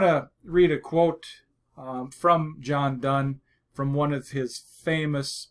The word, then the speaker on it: Donne: have a quote from John Donne do NNE it's pronounced done though John Donne was a famous English